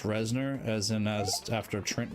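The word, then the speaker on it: Reznor: are really impeding on there we go oh resner and yes it is pronounced resner as in as after Trent resner the uh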